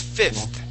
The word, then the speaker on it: fifth: So, uh, uh, class, I'll, uh, I'll spell this word out for you as well. Uh, it it looks like that. F I F T H. Yeah, th. So, fifth. Okay, let me have you try that one more time, Kristen.